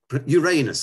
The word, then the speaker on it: Uranus: He knows the temperature on Uranus, which is where I put him. Or Uranus, as the Americans pronounce it.